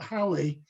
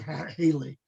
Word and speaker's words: Halley: And I told him it's pronounced Halley, and he said, "You are being given $100 fine because you mispronounced it. It has to be Holly or Halley, but you can't call it Haley."